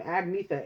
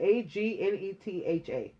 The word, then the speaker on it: Agnetha: First name Agnetha. Agnetha. Like Agatha, but with an N stuck in there.